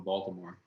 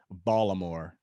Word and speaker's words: Baltimore: He's from there, so apparently you don't pronounce the T.